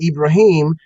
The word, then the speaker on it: Ibrahim: Hebrew pronunciation is Abraham he took the Arabic pronunciation ibraim and took that as a first name instead